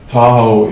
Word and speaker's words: Tahoe: Tahoe is derived from a Washoe phrase that describes Lake Tahoe, Da'auga, and we heard that, us white people heard it, Da'auga, Tahoe? Tahoe rhymes with Washoe, and that's kind of how it got started.